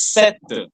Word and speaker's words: cette: Madam, it is pronounced as set.